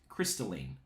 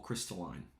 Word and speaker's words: Crystalline: a-m-a-r-a-n-t-h-e this song is called crystalline or crystalline right depending on how you want to pronounce it if you listen to